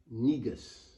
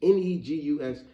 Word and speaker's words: negus: gonna name this one negus you know the word let me spell it out for you n e g u s now of course I know it sounds like nigga and that's why I'm